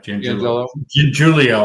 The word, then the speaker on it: Giangiulio: Giangiulio, I think it's pronounced. Giangiulio, there you go. That's exactly right.